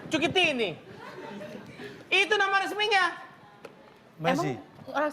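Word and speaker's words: Cuccittini: Agen resminya ada Lionel Andres Messi, Cukitini Kucitini Kucitini bisa bacanya Cukitini itu nama resminya Messi.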